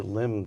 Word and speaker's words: limn: federal government, whereas Ronald Reagan was attempting to limn the traditional and ancient virtues of freedom and individual liberty? Nice use of limb, by the way.